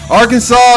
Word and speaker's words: Arkansas: Arkansas, let's see, I think it's there's a legal code instituted in Arkansas that explains how the state's name should and shouldn't be pronounced. While you probably won't get fined for pronouncing the last S in the state's name, it is technically illegal to mispronounce it while in Arkansas.